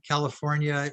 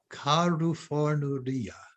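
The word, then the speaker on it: カリフォルニア: Do you know how you say California in Japanese? California. California. That's 6 syllables, right?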